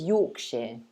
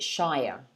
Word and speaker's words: Yorkshire: says what about yorkshire the pronunciation is yorkshire okay so you say at the end yorkshire americans tend to pronounce it shire yorkshire um but we say yorkshire yeah taehyung has a